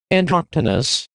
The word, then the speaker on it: Androctonus: It's pronounced Androctonus, you fool.